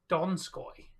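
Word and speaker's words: Donskoi: you've missed it's time it's pronounced dog sky donskoy yeah yeah he's been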